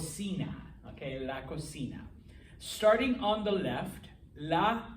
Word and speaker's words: cocina: of you that are italian-ish if you say cucina i will take points off all right it is i know it's spelt the same kinda but it's called cena okay la cocina starting on the left la tostadora toaster okay